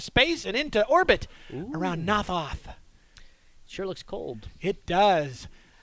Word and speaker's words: Not Hoth: the icy planet of Not Hoth. I cannot stress that enough. The name of the planet is Not Hoth. I think it's pronounced Nothoth.